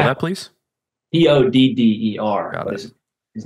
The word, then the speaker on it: Todder: Could you spell that, please? T-O-D-D-E-R.